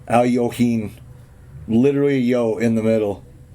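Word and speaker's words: Alekhine: and saying hey you know you say it Al yohen and it spelled it out in one of the books like the pronunciation so I thought oh that's pretty cool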